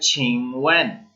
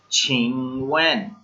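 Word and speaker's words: 请问: First word जो है वो है छिंगवेन। छिंगवेन, ये साथ साथ उर्दू में लिखते जाया करें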